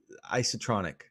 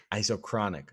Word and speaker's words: isochronic: Isotronic. Did I say it right? Isochronic. Isochronic.